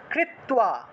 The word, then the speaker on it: কৃত্বা: সমগ্রাণ্যপি সেৎস্যন্তি লোকে শঙ্কামিমাং হরঃ লোকে শঙ্কামিমাং হরঃ কৃত্বা কৃত্বা, তয়ের নিচে বফলা থাকায় তুও উচ্চারণ হয়েছে।